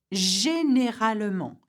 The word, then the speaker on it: généralement: So the G has a soft pronunciation in that case, just like the je we've just seen. So the J we've just seen. So we read it like this. Généralement, usually.